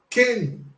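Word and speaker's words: כן: A letra Raf com o dagesh, que vai deixar de ter o som de RR e passar a ter o som do K, mais o sinal massorético e o Nun Sofit. Este som é Ken.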